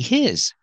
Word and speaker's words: his: We see his. The H is silent because his is not a stressed word.